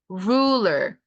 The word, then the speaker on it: ruler: 은근히 어려운 단어입니다. 발음이. 룰러 아니고요. 룰러 아니고 rule. rule. ruler. ruler. 은근히 턱을 빼면서 소리 많이 내요. ruler. ruler. 이렇게. ruler. ruler. 약간 턱주가리처럼 이렇게 소리가 돼야 돼요.